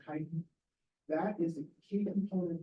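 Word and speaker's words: chitin: wall is primarily composed of a Pinacle called kiten it's CI TI it's pronounced kiten that is the key component of the fungal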